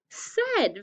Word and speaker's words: said: watch me write it the s says it's normal sound it sounds like a short e next but it's a i said it sounds like a d and it is a d so the tricky part